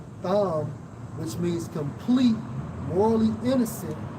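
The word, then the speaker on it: תם: Right, so plain man, plain in the Hebrew, Strong's H8535, pronounced as Tham, which means complete, morally innocent, having integrity.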